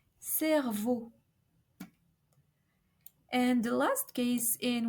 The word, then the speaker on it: cerveau: So each time we have an EAU, we should pronounce a closed O, comme like in the word beauté, beauté, which means beauty, or cerveau, brain, cerveau.